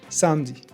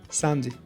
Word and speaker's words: samedi: When it's in the middle of a word, it's sometimes dropped. For example, samedi, samedi.